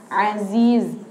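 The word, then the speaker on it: العزيز: bedakan ya cara bacanya bukan azizirahim jangan jangan sampai salah tapi pakai Za Aziz azizirahim jadi jangan sampai kita kebal D jadi D azizirahim karena ada yang dia itu cara baca znya itu pakai dalal nah jadi kita harus hati-hati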